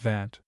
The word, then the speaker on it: vingt: Think pronounced Vant.